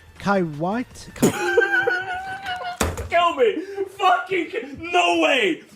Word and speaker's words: Kuwait: You can literally just go on Google and type how to pronounce Kuwait, and I'll tell you it's Kuwait.